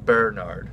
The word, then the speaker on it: Bernard: Bernard and being, or actually Bernard is how you pronounce it.